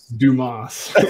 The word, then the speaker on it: Dumas: It's pronounced Dumas. Like on Star Trek.